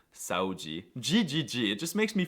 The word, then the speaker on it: saúde: However, the cutest noises by far that come out of Brazilians is the way that they pronounce the DE at the end of words, like in onde, verdade, saúde, GGG.